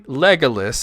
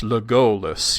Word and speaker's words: Legolas: With elf names, we're told that the accent, the emphasis, almost always is on the second to last syllable, which is why it's not really Legolas, it's Legolas, you know.